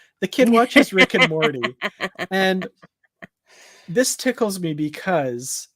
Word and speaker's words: Morty: even like rick and morty so and i i like to say morty morty i like to pronounce the t more tea more tea there's a t it's not a d but that's just how